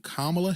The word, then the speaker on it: Kamala: I'm G be honest with you y'all if camela Harris I'm saying it right now if C Kamala Harris wins the presidency this man will be